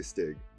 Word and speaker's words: Stig: I've been wondering, is that pronounced Stig or Stidge? I always say Stig.